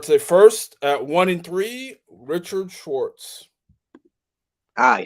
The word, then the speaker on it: Schwartz: Richard Schwartz. You said my last name right this time. Cool. Did I say it wrong the You first said time? Schultz. Like, there's no L.